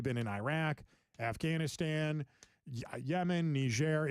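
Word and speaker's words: Niger: My generation is a group of people that for the last 20 years we've been in Iraq, Afghanistan, Yemen, Nishair. It's pronounced Nishair, by the way.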